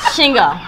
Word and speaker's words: Shingo: She can do 2 syllables. Shingo.